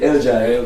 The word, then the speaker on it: Eljai: So it's actually Eljai. Eljai. Yeah. And it has a meaning. Yeah, and that's how the Belizeans in Belize say. They Yeah, say Eljai. Yeah, Eljai. Yeah. And they're not saying it wrong.